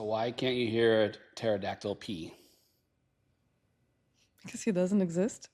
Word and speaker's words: pterodactyl: So why can't you hear a pterodactyl pee? Cuz he doesn't exist? Cuz the P is silent. Cuz it's spelled with a P.